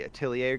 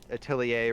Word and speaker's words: Atelier: I think it's Atelier. Oh, okay. So it's like a French ER.